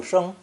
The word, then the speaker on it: 生: Our last character in today's lesson is the pictogram of a plant rising from the ground and is pronounced first tone, 生, 生.